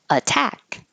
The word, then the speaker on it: attack: anal so very different attack attack this T can't change to a d even though it's between two voiced sounds because it's in the stressed syllable so the the rule that a t will change to a d if it's between two voiced sounds is only true if it's in the unstressed syllable so in this case we have to keep the t attack distribution distribution emphasis